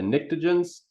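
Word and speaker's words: pnictogens: these are called the nictogens but there's a silent p there so you know english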